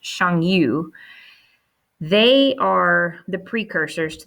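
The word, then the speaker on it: Xiongnu: n g n u word that actually is pronounced shangyu they are the precursors to the mongols okay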